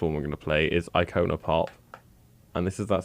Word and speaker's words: Icona: We had a debate in the studio about how I should be saying Icona Pop, because apparently Americans say Icona Pop. Yeah, why not? Say it with the American accent, though. Icona Pop. You see, it's Icona. Anyway, and that was the See, first... it is Icona.